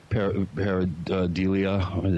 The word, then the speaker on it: pareidolia: I thought maybe, like we discussed earlier, it was pareidolia.